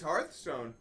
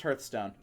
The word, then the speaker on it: Hearthstone: Yeah, it's Hearthstone. Yeah, but it's pronounced Hearthstone. No. Oh, it's definitely hurt. Like I've That is an English word. Yeah, but it's supposed to be It's supposed to be like heart.